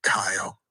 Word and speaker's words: Kyle: So my question is, how do you pronounce my name? See, I was about to be rude, but I pronounce your name Kyle. Wow, that's what's up. So you pronounce it correctly.